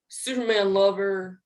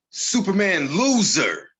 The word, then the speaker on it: Superman Loser: I remember when you beat Superman Lover for the LPW No. title. You said that wrong. Superman Loser. Oh yeah, my bad. That's how you say his name.